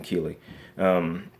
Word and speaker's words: Keighley: in jeff Keeley's mouth i believe this how you pronounce his name Kili puts words in jeff